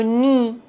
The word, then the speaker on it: nid: On ne doit pas prononcer C final. Blanc. Bon. D comme le nid.